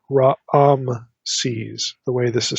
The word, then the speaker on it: Raamses: have literally Raam se's there's like two a vowels in the pronunciation it's not Ram se's it's Raam sees the way this is